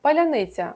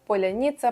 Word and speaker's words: паляниця: люди використовували лінгвістичний шиболет це таке слово яке можуть вимовити тільки носії певної мови паляниця - це могли вимовити лише україномовні люди скажи слово паляниця різні скабеєєві говорили поляніца полуніца нічого в них не вдавалося так вираховували дрг та